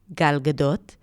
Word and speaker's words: Gal Gadot: And she coached a lot of big names like Gal Gadot on the set of Wonder Woman 2, or shall I say it with a proper pronunciation because I know how to pronounce her name, Gal Gadot, as well as Brosnan, McAdams, Penelope Cruz, so